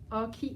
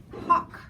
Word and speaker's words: Hawk: Hockey Hat? Hawk. Ah, bon, Hawk, voilà. Comme un aigle.